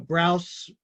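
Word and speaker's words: Brous: commented that you know browse avenues is pronounced like blouse but with an r so just so you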